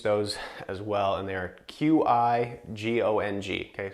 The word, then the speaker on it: Qigong: We teach those as well, and they're Qigong. Okay, so it's spelled differently than CHI. It's Qigong.